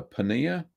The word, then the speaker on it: paneer: says with simple uh paneer a penny is spelled p e e no p a n e e r paneer yeah it's indian cottage